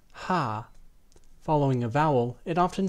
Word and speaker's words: H: In the German language, the name of the letter is pronounced ha.